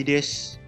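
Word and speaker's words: です: Di tulisannya sih desu, tapi dibacanya des.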